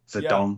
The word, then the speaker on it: Zedong: Zedong, how you pronounce it? Zedong. Yeah. Mao Zedong. Just say it easily, Yep. Mao Zedong. That's fine.